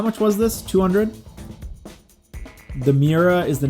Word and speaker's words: Miura: you pronounce it or is it like miura and that oh no that's that's 200 grand so maybe we don't maybe we just go with a c-class what uh what are good c-class options should we start getting into exotics now we've got the esprit we've got the 350z nismo miura miura is how you pronounce it oh i was doing the u and the i backwards um it's time for